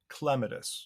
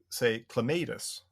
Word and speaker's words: clematis: But then since I learned that the correct botanical pronunciation is clematis, so the Hmm. accent is on the first syllable.